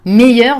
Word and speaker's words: meilleur: Dans ce cas, meilleur va donc s'accorder avec le nom qu'il complète. Meilleur écrit avec un R final, c'est masculin singulier. R-E, meilleur, the pronunciation will always be the same.